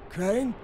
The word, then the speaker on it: Crane: store no my name's crane crane crane rhymes with train and brain and S and Grain and rain and plain and the other